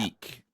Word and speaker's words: Meek: How do you spell that? Meek, like Meek, like Oh, those who okay.